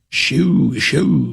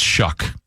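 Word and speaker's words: Shough: looks, I believe it's Shuck. I feel like there's like a K sound, even though there's no K.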